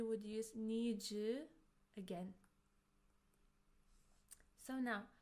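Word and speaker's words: の: It's pronounced as no, no, and it shows that something belongs to someone.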